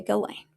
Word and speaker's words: Ghislaine: Because the only thing that I'm correcting myself on my pronunciation is Ghislaine. I won't call her Ghislaine anymore. I'm going to say Ghislaine.